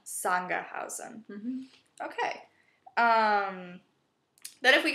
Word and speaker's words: Sangerhausen: So is it more of a Z? Not quite. So Sangerhausen. Yeah. Sangerhausen.